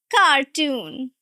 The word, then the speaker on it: cartoon: Now the difference is in the syllable stress and the way you are pronouncing. Now in the first one carton. Carton. Two syllables. Right? You're going to stress the first syllable. Cotton. Cotton. Cotton. And the second one is a long wall sound, stretched sound, and the stress is also on the second syllable.